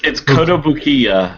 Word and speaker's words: Kotobukiya: It's not even close. Yeah. It's like Kodo. It's Kotobukiya, Kotobukiya. but I don't know where the stresses are. I don't know if it's like Kotobukiya or if it's Kotobukiya or I don't know.